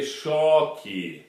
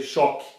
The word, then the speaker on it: choque: Aber normalerweise wird es wie im Englischen oder im Deutschen pronunciert, Schock. In Brazil, when you say it super slowly, you say choque. But normally you say choque.